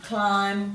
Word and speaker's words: climb: these words with lamlam bomb comb dum num climb crumb some plumber there's not a lot of